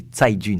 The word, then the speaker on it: Cai Jun: d'ailleurs je corrige, c'est Cai Jun, ça se dit. Cai Jun, voilà. Encore une fois, comment on prononce ? Cai Jun. Cai Jun. Cai Jun. Le C se prononce comme un TS.